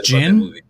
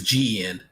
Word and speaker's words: Gen: Is it not pronounced Jin? It's Gin. Jin. It's Gen.